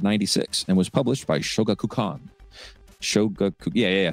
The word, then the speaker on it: Shogakukan: in November of '96 and was published by Shogakukan.